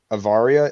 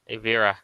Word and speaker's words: Avira: I would like to point out that our lovely, I'm sorry if I mispronounced the name, Avaria, is that how you pronounce it? I'm sorry. Avira. Avira.